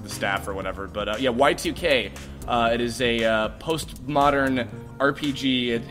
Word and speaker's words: YIIK: It's spelled YIIK, like I, like Roman numeral 2, Y2K, like year 2000.